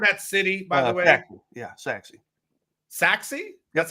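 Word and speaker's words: Sachse: Saxy. Yeah, Saxy. Saxy? That's how it's pronounced.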